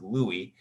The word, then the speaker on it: Louis: King whose name was although it looks like Lewis it's pronounced Louie um and he was